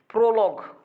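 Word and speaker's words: prologue: আনুইন relax ওকে তারপর লেখো তারপর লেখো হচ্ছে প্রোলগ খুবই গুরুত্বপূর্ণ ওয়ার্ড প্রোলগ কোন শব্দের সাথে ইউ থাকলে কেমন ইউ থাকলে ইউ এর উচ্চারণ নাই যেমন ইউনিক ইউনিক লিখতে কি ইউনি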